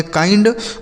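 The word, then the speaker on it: kind: इस आई का उच्चारण दोस्तों आई हो जाता है। एन से आधा न डी से ड। इसे पढ़ेंगे काइंड। मतलब क्या हो जाता है दोस्तों? दयालु। काइंड मतलब दयालु होता है।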